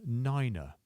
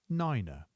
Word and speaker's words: niner: 8 is 8, and 9 becomes niner, niner. We don't use the word point, instead we use decimal, and that's pronounced decimal.